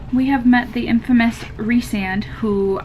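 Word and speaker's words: Rhysand: have met the infamous resand who i hate that it's pronounced resand and not rice and but we have met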